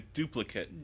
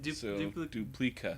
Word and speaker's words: Duplica: Well, it's like a duplicate. Duplica.